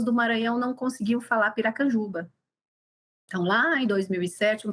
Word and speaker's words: Piracanjuba: gente precisa ensinar as pessoas a falarem como pronunciar Piracanjuba. Saía Piraçara, Pirajuçara, Pirajuba, saía o que você conseguia imaginar, saía.